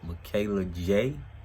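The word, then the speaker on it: Mikela J: want to talk about michaela j that's how you say it um and if you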